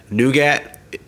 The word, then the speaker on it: Nougat: Nougat. That's what most people have been saying it. Some people have been saying Nugent. I don't know why. Spelled a completely different way.